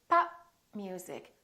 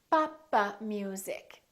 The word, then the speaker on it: pop music: So I didn't release my lips. I said pop. I didn't say pop. So when we release the stop, it sounds like we're adding an extra syllable. Papa music. It sounds almost like 4 syllables. Papa music. Instead of pop music, 3 syllables.